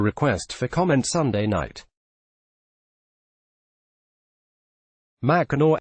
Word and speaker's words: Mackinac: pence did not immediately respond to a request for comment Sunday night Mackinaw pronounced machina is one of a handful of places across